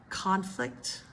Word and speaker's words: conflict: Nouns typically first syllable, verbs second syllable, okay? Again, we've done this one before. Address. Address versus address. Address versus address. Conflict.